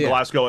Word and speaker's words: Glasgow: Americans like to pronounce Glasgow like Ragnow, like Glasgow, and it's just not. There's a place. No, it's called Glasgow.